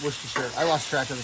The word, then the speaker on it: Worcestershire: I watched a video on how to pronounce it. It's Worcestershire.